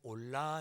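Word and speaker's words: עולה: 먼저 번제라는 단어를 설명을 드리면 히브리어로 1천 번제할 때 이 번제는 올라 이렇게 발음을 합니다.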